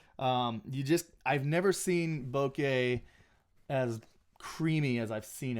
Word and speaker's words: bokeh: in this thing okay it's pronounced bouquet actually it's not bokeh the Americans call it bokeh it's actually bouquet Julia